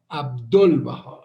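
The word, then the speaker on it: ʻAbdu'l-Bahá: I hope, I pray, I beg God and Baha'u'llah that the Western friends learn to pronounce the master's name, his title, correctly. Abdul Baha, not Dul Baha, but Dul.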